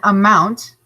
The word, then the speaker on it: amount: a rating all right an amount two syllables here a mount and mount is the syllable with the that is stress we can tell because it's in bold a mount is a noun